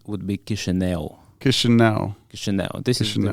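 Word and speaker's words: Chișinău: but the right way to say would be kishel Kish Kish this is the right Romanian word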